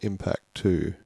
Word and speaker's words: MPC2: I believe they sort of intend that to be pronounced Impact 2.